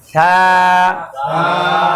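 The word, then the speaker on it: ث: বা তাছা সা স্টপ আমি আবার বলছি খেয়াল করেন ছা জিবে আরো বের করেন আবার বলেন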